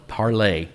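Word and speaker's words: Parler: Parlor. Parlor. Parlay. Parlor. It's parlay. It's how it's pronounced. Well, whatever. I know it's spelled parlor. It's a French word. It's parlay.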